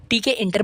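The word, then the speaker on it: Tkinter: TK इंटर बोलो या किंटर बोलो, but programming language, programming communities में इसे किंटर बोला जाता है, नॉट TK इंटर।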